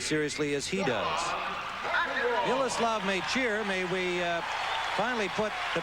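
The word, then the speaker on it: Mečíř: Yesterday, if you watched, you heard us referring to him as Mecir, and that is as close as we could come to the correct Czechoslovak pronunciation of it. His father is a Czech, his mother is from Slovakia, and the 22-year-old says that Mecir is fine with him.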